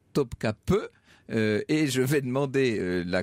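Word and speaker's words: Topkapı: que ça se prononce que topkapi se prononce bien topkapi et je vais demander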